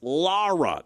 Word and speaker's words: Lara: Did I say it wrong? Luis Lara. That's how you say it. L A R A Lara.